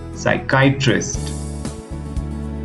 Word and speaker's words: psychiatrist: pronounce these words here you don't have to pronounce the letter P and the first one is pneumonia no P see you do psychiatrist Bradbury cupboard let us